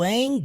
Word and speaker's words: ain't: You ain't gonna have a life. Ain't, não tem o T na pronúncia.